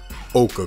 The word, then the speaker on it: ochre: edge on 18 let's roll and the yellow ochre color way that's how it's pronounced okay all right it is Air Jordan 18 retro yellow ocher now I'm not a fan of this color